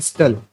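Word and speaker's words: subtle: एंड द स्टिल, देखिए यहाँ पर जो ये वर्ड आया है ये है स्टल, ठीक है, इससे प्रोनाउंस करते हैं स्टल, यानी हल्का या हल्का होता है इसका मतलब।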